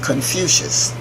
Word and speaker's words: Confucius: by the teachings and writings of lao-tzu and Confucius spelled co n if you see I us